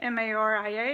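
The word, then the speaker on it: María: say Maria that has one are in it ma RI a and you pronounce it Maria Maria so see how that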